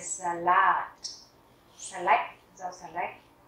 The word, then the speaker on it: Salat: Der Salat, der Salat, trọng âm rơi vào chữ A cuối, chúng ta sẽ đọc art. Der Salat.